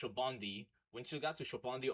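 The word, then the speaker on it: Sabaody: But once you got to everybody's told me it's pronounced Shobondi.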